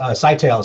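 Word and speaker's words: Scytale: know sure sky tell it's pronounced site al site tells the commercial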